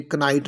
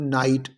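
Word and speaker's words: knight: such as के है तो नाइट में हमने क्या पढ़ा हमने क नाइट नहीं से बोलना हमने क्या बोलना है नाइट तो के साइलेंट है यहां पर इस तरह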